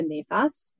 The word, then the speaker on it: nefas: also I did look up and is it nephus or nephus how do you pronounce that yeah so it's actually more of a nefas Naas that's yeah okay yes and that is